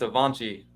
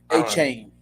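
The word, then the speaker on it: Achane: It's Avanci. Avanci, is that how you say his name? Avanci? A-Chain. A-Chain. I knew it was something like that.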